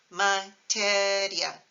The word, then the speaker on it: materia: The words materia and historia don't have an accent mark because they don't split the IA into 2 syllables. So listen, materia, historia, as opposed to if you added an accent, you'd get materia and historia, but we don't.